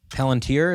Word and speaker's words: Palantir: Palantir, is that how you say it?